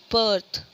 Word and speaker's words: berth: बर्थ, ठीक है। Next को अगर हम लोग करते हैं स्पेल BIRTH, बर्थ, ठीक है। दोनों का ही जो प्रोनाउंसिएशन है वो क्या आ रहा है? बर्थ, ठीक है।